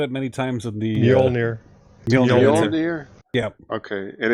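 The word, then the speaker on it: Mjölnir: And he actually said it many times in the Mjolnir. Mjolnir? Yeah. Okay. And it's spelled just like the hammer too.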